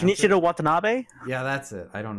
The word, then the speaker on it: Shinichiro Watanabe: pronounce it. Shinichiro Watanabe?